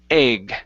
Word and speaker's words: egg: word word egg okay give me a G sound instead of a d okay so egg try that egg good so only